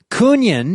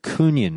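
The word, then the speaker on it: Kungen: Nihilum, led by, and I pronounce it Kunyan, which is apparently is the proper way to say it. I know everyone says Kungan, but I don't know.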